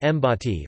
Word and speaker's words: Bati: The Fiji National Rugby League team, nicknamed the Batty, pronounced Mbati, represents Fiji in the sport of rugby league football and has been participating in international competition since 1992.